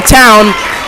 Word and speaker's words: Town: Bristol checks in and Ryan Town not Towny Town checks in for Dukes